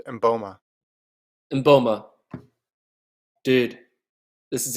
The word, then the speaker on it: Mboma: what happened today dude christine mumba i i said her name wrong christine boma boma how do i say last name yeah i think it's mboma and bulma dude this